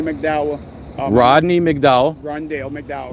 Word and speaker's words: Rondale: more all right my my my name is Rodney McDow Rodney McDow rondale McDow R Rondell it's spelled capital r o n d a l